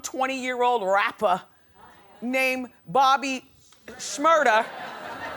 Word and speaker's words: Shmurda: year old rapper named Bobby Shmurda which rhymes with murder has to say until